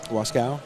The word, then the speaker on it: Wasco: Cole Brewer, Michael Dotson, Brandon Earls, and Austin Wasco. Is that how you say it? Wascow.